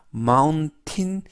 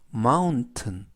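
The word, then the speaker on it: mountain: 마운트는 마운트는 이라고 발음합니다 여기에서도 조심 하실 것은 마음 틴 이라고 발음하지 않고 요 마음 튼 이라고 발음합니다 뜻은 산 이라는 뜻입니다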